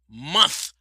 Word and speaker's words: month: mother always told me make sure you you put you you pronounce the T and the H month we say month well black history